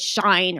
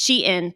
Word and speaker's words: SHEIN: Like we need to jump on this because everyone says shine or sheen or it's SHEIN.